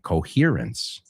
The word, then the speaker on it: coherence: Muy bien, la H se pronuncia y lo has pronunciado perfectamente, coherence.